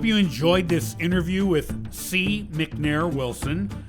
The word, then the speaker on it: C McNair Wilson: enjoyed this interview with C McNair Wilson remember this C is silent sharing his insights and